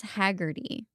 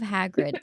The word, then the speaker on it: Hagrid: I'm pretty sure her son uh in Harry Potter pronounces Hagrid what it was like He says Haggerty instead of Hagrid and he's watched the movies.